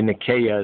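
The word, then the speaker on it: Nicaea: you understand or or nikkei before the council of nine nikia on the scene the nikkei and the nasia council but really nikea is a more correct pronunciation but the main script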